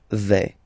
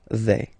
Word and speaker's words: vais: Okay, first person here, je vais. Remember, final S not pronounced. Je vais.